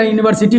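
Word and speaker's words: university: उसी तरह यूनिवर्सिटी को देख लीजिए, यूनिवर्सिटी को यहाँ पहले यू है, दिख रहा है वोवेल, लेकिन उच्चारण क्या है, कॉन्सोनेंट है, क्योंकि यह से शुरू होता है, इसलिए क्या लेगा, ए लेगा।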